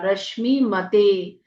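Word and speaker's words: रश्मिमते: नमः ऐसे है ना रश्मि र पूरा आधा श म छोटी इ की मात्रा रश्मि म पूरा त में ए की मात्रा रश्मि मते ओम रश्म मते अंगुष्ठा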